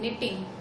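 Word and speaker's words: knitting: के साइलेंट है कि निटिंग नहीं, निटिंग। ठीक है, वीविंग और निटिंग।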